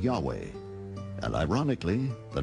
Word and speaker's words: Yahweh: yahweh was named jay because early european translators were ignorant of the correct pronunciation of hebrew names many inadvertently referred to the name of god as jehovah instead of yahweh and ironically the name